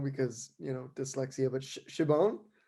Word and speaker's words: Siobhan: you know dyslexia but shibon like siobhan yeah it's hard because it's irish and it's felt differently